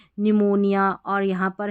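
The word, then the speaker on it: pneumonia: देखिए [अचानक ज़ोर से सांस लेने की आवाज़] पी एस और पी एन से शुरू होने वाले कई शब्दों में पी साइलेंट होता है।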